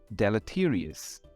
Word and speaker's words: deleterious: This word is pronounced as deleterious.